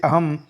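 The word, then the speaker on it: अहं: अनुस्वार का प्रयोग म आधा म के समान ही होता है। जैसे अहम गच्छामि, मैं आता हूँ।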